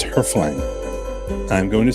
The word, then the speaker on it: hreflang: The most common pronunciation is Hreflang. Very nice, pretty efficient, very techy. Dig it. There's another pronunciation, and it's the one that we're going to use because I like it more, and it's kind of fun. And it's Hreflang.